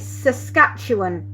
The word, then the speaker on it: Saskatchewan: Have I pronounced it Saskatchewan?